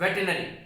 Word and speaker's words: veterinary: Okay, RI यहां पर थोड़ा सा साइलेंस मोड पे है, इसीलिए इसका प्रोनाउंसिएशन क्या होगा, वेटरनरी। ओके, वेटरनरी, लेकिन री को बहुत ही छोटा लेना है, तो वेटरनरी।